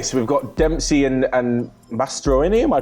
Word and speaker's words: Mastroeni: Okay, so we've got Dempsey and Mastroeni. Am I pronouncing it right? Mastroeni, yeah.